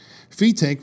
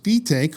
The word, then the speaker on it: Fetaque: Ring magazine, it says, "Fetaque, who insists that his name be correctly pronounced, like B-take, is a strong believer in